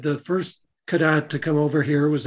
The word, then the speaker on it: Cadotte: involved with the british the british saw the t on the end and pronounced it kadat and it took over